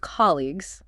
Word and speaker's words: colleague: The ending g u e simply makes a hard g sound.